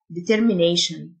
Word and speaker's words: determination: تصميم أو عزيمة determination، T-I-O-N تنطق شن، determination.